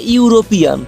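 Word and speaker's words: European: Vowel দিয়ে শুরু হওয়া শব্দের উচ্চারণ করার সময় যদি ইউ বা ওয়ার মতো উচ্চারণ চলে আসে তাহলে সেখানে চোখ বন্ধ করে এ বসিয়ে দেবে। যেমন ধরো বললাম এ ইউরোপিয়ান, ইউর উচ্চারণ আসছে না, ইউরোপিয়ান। University, a university, N university বললে কিন্তু ভুল হয়ে যাবে।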